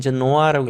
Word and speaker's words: Genoa: 그리고 in Genoa, 우리 영어로 읽을 때는 Genoa라고 읽고 원래 뜻은 제노바라고 읽습니다.